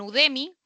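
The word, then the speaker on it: Udemy: Yo les di un par de ejemplos ya, pero puede ser en cursa, pueden ser en Udemi, se escribe así tal cual como suena.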